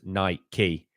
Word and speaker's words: Nike: saving lives my guy Nike is from Greek it's literally pronounced niky yeah but I don't pronounce bike bik key see that's my issue it's just Nike it's not a big